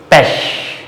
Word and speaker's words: Pech: last place, like ish, mish, dish, milch, Reich, Pech, P-E-C-H, Pech means bad luck, Pech, Reich, rich person, milk, you can see CH